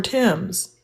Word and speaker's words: Thames: I'm over there talking about why is this spelled t h a m e s. Thes river in your Oh, that's the river Tims.